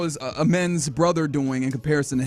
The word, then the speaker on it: Amen: saying his name incorrectly I heard am men it's I I I I put the emphasis on the first syllable I I usually say Amen but it's like it's aen aen am men Thompson okay so I'm trying to make sure I get that right Aaron saying that's right